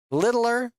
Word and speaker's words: Littler: Littler. Oh, cuz there's no g h in it.